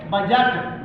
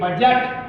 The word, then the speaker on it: budget: कोई कॉन्सोनेंट आता है तो डी को भी साइलेंट कर देते हैं। जैसे बजट, BUDGET बजट, तो डी जी यू आ गया, डी के बाद डी और जी आएगा बजट।